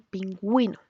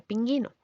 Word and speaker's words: pingüino: para acentuar remarcarla segire por ejemplo en español pingüino que sies se pronunciaría pinguino como pasa con las palabras que tienen esa